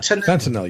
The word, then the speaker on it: fentanyl: Fentanyl, you got it.